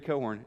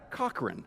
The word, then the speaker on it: Cochran: So he spells his name, Gary Cohorn, C-O-C-H-R-A-N. Yeah. Yeah, Cochran, right. I mean, any normal person would look at that and say, Gary Cochran. But it's super handy because his whole family pronounces Cohorn, so it's handy because